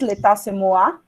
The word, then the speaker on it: L'état, c'est moi: Aí eu coloquei aqui em francês, l'état c'est moi. Ai, que chique. Bonita, né? Chique. Sou rica e poderosa. Como é que pronuncia?